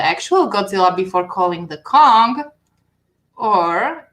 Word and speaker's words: Kong: You pronounce it Kong.